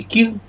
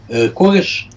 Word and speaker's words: Кир: Это было не самое приятное время для Вавилона, потому что начала подниматься Персидская империя, и царь Персии Кир, кореш, Кир – это русское произношение его имени, объявил войну Вавилону и дошел до столицы, дошел до Вавилона и осадил ее.